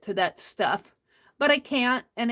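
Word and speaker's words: Kantha: Even though it's spelled Cantha, it's pronounced Canta.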